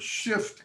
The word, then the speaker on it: shift: people pronounce the word shift christina oftentimes they drop that f i don't know why